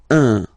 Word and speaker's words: un: but you've got to pronounce it like un. So it's what we call the nasal, so it goes in your nose, okay? Un. So if you listen to me, you don't hear any N, okay?